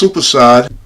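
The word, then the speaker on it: soppressata: We only need 4 ounces so it's pronounced sopressata.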